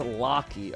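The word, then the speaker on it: Lachie: Name's pronounced Locky.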